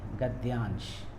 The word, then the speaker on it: गद्यांश: लेकिन बच्चे ना इसको ध बना देते हैं, गद्यांश, ध कर देते हैं, और फिर यहाँ से ऐसे लिख देते हैं गद्यांश, क्योंकि ध का उच्चारण ऐसा प्रतीत होता है बच्चों को, लेकिन द भार है और ये या पूरा है।